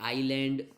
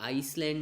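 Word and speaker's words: island: और जो बाकी वर्ड है, आइलैंड जो फर्स्ट वर्ड है ये आइसलैंड नहीं है, थोड़ा सा हम प्रोनाउंसिएशन में इसकी गलती करते हैं, this is नॉट आइसलैंड। आइसलैंड तो ICE वाला होता है जो बर्फ़ वाला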